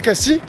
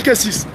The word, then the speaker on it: Cassis: démarquer et donc à Cassi et bien les gens disent beaucoup Cassi c'est une manière de dire bah nous on sait comment ça se dit vraiment et comme ça il distingue les touristes et des régionaux et moi qui sois un vrai pr sal aussi bah pour moi dans ma région Cassi ça se dit cassis donc il y a